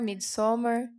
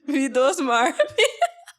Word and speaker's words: Midsommar: Midsommar. Que eu falei que eu... Antes de eu ouvir pronunciar, eu não tinha lido direito o cartaz. Antes de eu assistir o filme. Aí eu achei que chamava Midosmar.